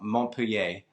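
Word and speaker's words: Montpellier: I don't know if it's southwest or southeast, but it's definitely southern coast and spelled like Mont Pelier, but they call it Mont Pier.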